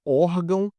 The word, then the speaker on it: órgão: A palavra órgão é uma palavra paroxítona terminada em ão, por isso vai acento? Olha só. Órgão, órgão, realmente é uma paroxítona, né? Última sílaba, penúltima sílaba.